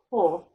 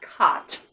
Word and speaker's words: Côt: right you didn't think c o with a circumflex and t otherwise known as cool not caught but oh yeah i